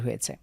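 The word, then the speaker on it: حاء: এক নোতা রয়েছে এরপরে হা কন্ঠের মাঝখান থেকে চাপ দিয়ে হা এখানে কোন রকম ফোটা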